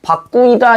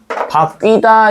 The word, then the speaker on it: 바뀌다: 바꾸이다 이렇게 되겠지. 근데 이렇게 발음 안 하죠. 어떻게 발음해? 최종적으로는 바뀌다 이렇게 되죠.